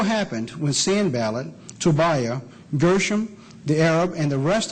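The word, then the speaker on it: Geshem: that sand ballot and gersam now some people pronounce that gashu you'll find he is the same person in verse 6 when we come to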